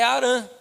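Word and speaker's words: Harã: se chama esqu Aran na pronúncia Hebraica cidade é arã E terá ele fica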